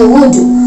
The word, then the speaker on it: would: Oke, ini cara bacanya would. Awalnya blank ya, jangan dibaca would gitu tapi would.